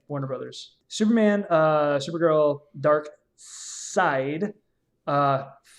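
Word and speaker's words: Darkseid: that name so every time i've heard it pronounced on the source material they said dark side sorry i first saw it for years i thought it was dark seed okay because you spell with a [ __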